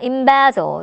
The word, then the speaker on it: embezzle: 자, 강세가 embezzle. 자, 여기 오시고요. 마지막에 embezzling 이렇게 발음이 되죠.